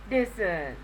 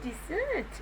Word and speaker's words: dessert: of this idea but some people pronounce this as desert how to pronounce this decision repository english very new concept learn the correct pronunciations okay isn't there any dessert at the business there